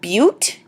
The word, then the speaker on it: but: three is proper 4 i know it looks like butt but it's pronounced butte five is pent six